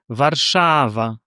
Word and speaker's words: Warszawa: Our regular accent of Polish language is on the second syllable from the end, the syllable before the last one. Warszawa, Chopin, kompozycja. So if we have 3 syllables, we will have like Warszawa, Warszawa. The second will be stronger.